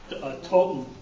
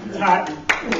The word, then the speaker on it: Totten: She said, it's just like cotton. So, Totten. Totten.